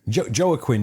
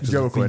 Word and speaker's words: Joaquin: Joaquin, yeah. Joaquin. For years I thought that was how you pronounced it.